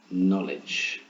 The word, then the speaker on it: knowledge: could have the word knowledge notice the silent k on there you can say it silly and say cano let's move on here's